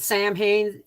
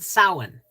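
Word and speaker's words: Samhain: some people pronounce it Sam Hayne some people pronounce it Salin the season of gratitude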